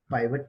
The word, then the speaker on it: pivot: सो आप इसको पिवट भी बोल सकते हो, पाइवट भी बोल सकते हो।